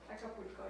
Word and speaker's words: Acapulco: Acapulco, yeah.